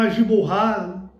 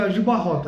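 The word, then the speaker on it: Aljubarrota: Alguns chamam Agiborra, tanto faz, mas o nome da pronúncia no português é Agibarrota, né?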